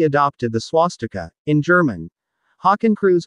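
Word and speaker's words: Hakenkreuz: or nsdap officially adopted the swastika in german hawking crews pronounced more or less h a h k n k roits in 1920.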